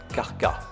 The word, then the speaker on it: Krka: Arrivés à Krka, prononcé Karka.